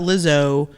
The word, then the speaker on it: Lizzo: Lizzo.